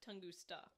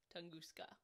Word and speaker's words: Tunguska: Well, not Tunguska. Tunguska.